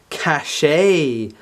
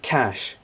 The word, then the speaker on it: cache: up how to pronounce see a CH e cash so what is shut the up shut up so it is pronounced cash great I was like saying